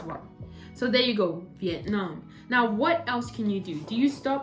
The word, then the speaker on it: Vietnam: the dictionary that actually the correct way is vietnam so i was wrong so change it up change it up vietnam great so we've got it now the stress is on the second syllable vietnam so it's really really